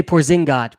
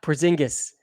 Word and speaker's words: Porzingis: around 12 points ben ben wants us to say porzingott porzingis no idea how to